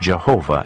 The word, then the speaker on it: Jehovah: An outstanding feature of these ancient texts is the frequent use of the divine name, the Tetragrammaton, pronounced Jehovah in English.